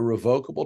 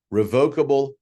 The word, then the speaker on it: revocable: pause for a moment revocable irrevocable I am pronouncing that way just so you clearly hear the difference in what I'm saying the pronunciation for each is correct both ways all right so revocable revocable irrevocable irrevocable I've